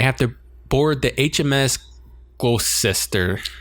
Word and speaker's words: Gloucester: And then they finally get their next orders, and they have to board the HMS Gloucester. Gloucester. Well, that's how they say it in Massachusetts anyway, so I don't know.